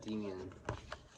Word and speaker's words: Demian: They formed this band called Demian. That's how you pronounce it.